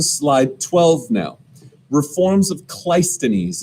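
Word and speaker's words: Cleisthenes: 12 now reforms of clystones is how you say that guy's name kleisthenes okay kleistenis is going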